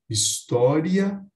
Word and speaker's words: história: entre ditongo hiato então podemos pronunciar história ou ainda como hiato historia quando eu faço essa